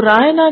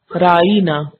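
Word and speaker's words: راعنا: بدل لیتے اور کہتے رائینا، رائنا کی بجائے رائینا، یعنی زیر کی بجائے ساتھ یہ بھی لگا لیتے۔ رائی عربی زبان میں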